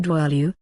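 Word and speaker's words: dwale: describe an anesthetic potion was dwail pronounced dwalu the hemlock juice alone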